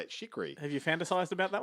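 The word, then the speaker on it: Chriqui: But my favorite one is, and I'm going to mispronounce her last name, but Emmanuel Chikri. That's how you say it. Chikri.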